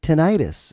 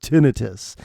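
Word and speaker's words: tinnitus: I've had tonitis. And you're like, it's pronounced tinitus. And I'm like, I'll call it tenitis.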